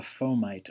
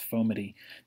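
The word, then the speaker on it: fomite: transmission uses something called a foe mite or sometimes pronounced ofoma T that is an inanimate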